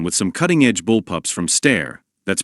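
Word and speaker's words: Steyr: We'll get hands-on with some cuttingedge bullpups from Stair that's pronounced, by the way, and IWI.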